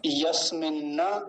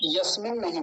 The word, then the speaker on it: यस्मिन्न: तो दोनों का क्या उच्चारण हो गया, दोनों को संयुक्त करें तो यस्मिन्न ऋचः। यस्मिन नहीं बोलेंगे, यस्मिन्न। न दो हैं, नकार दो हैं।